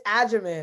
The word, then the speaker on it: Agyeman: So it's Agyeman. I think people like to go hard G on my name, but that's okay.